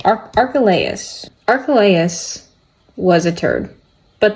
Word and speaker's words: Archelaus: Archelaus. Okay, good effort, but not even close. Okay. Archelaus.